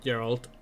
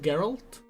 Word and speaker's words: Geralt: half The Witcher books are about her not Gerald uh yeah basically uh spoilers for The Witcher books um geralt is pronounced geralt in English a book reader here not not